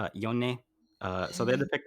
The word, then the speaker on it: Yone: Yone.